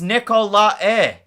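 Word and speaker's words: Nicolae: getting the win uh Daniel Nikolai is pronounced Nicola e it's funny having Americans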